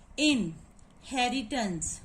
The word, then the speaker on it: inheritance: Inheritance, first of all we will put the syllable mark in this word in, and then syllable hairy, and then syllable tons, T-A-N-C-E, tons, and this is the tons, and here are three syllable, 1, 2, 3, three